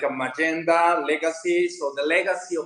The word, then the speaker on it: Mayenda: Which, speaking of, a lot of people will probably see this, and the way that's spelled, we may say Mayenda, but you guys actually pronounce it Magenta.